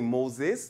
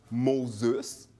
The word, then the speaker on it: Moses: avoir prononcé mon nom mon nom c'est Moses Moïse en anglais au Québec j'ai eu plusieurs versions de mon nom par exemple mosus c'est vrai que je